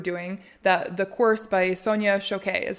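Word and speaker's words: Sonia Choquette: that we were doing that the course by Sonia shoke is how you say her name yes it's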